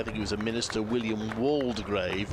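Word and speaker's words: Waldegrave: he was a Minister William waldgrave or was it Walder grave and apparently it changed he had said one one point and then changed his mind a bit later but so it does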